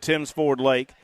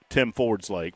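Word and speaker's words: Tims Ford Lake: Love to see you at Timms Ford Lake. I've learned over the years how to pronounce it. I will never be forgiven for mispronouncing it for the amount of time that I mispronounced. But that's okay. That's all right, too. If you missed that show, it was a good one. I just called it Tim Ford's Lake for about an hour and a half, and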